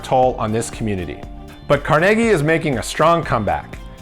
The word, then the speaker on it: Carnegie: Carnegie, which is definitely not pronounced Carn-i-gee, is right off the